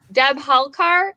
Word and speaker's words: Dabholkar: the last 45 minutes is it dab hall car is that how you say it yes yes it's actually not that